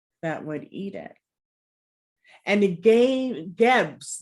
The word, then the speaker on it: Geb: Or Keb, or Seb. But the pronunciation is Geb.